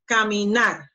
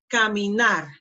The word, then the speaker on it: caminar: the action to work pronunciation caminar caminar so the last syllable gnar is the strongest one see Tammy not when